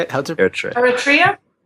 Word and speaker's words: Eritrea: I always thought it was pronounced Eritrea, but hearing you say it, it's how did you say it? How's it? Eritrea. Eritrea. Okay, I had my pronunciation or emphasis on the wrong syllable.